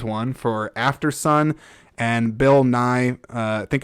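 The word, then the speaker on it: Nighy: for afteron and Bill Nye uh I think it's I think it's pronounced Bill NY like Bill NY the Science Guy for living now here's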